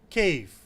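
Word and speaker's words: كيف: word is cave however in UAE and some of the neighboring countries they pronounce it differently and that is chave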